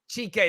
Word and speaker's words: Chike: his name wrong um is it check check check you say it for us what's your name chike there we go there